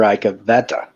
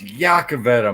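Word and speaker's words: Iacovetta: How is it going, Mr. Icavetta? It's Yakavetta, motherfucker. It's spelled I'm not Polish.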